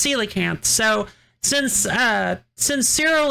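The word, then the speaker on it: coelacanth: I used to pronounce the koala all the time and then I learned it was celacanth.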